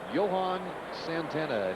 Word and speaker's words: Johan Santana: Johan Santana, and he does prefer Johan, even though it has an H in it. You would think Johan. He says the H is silent.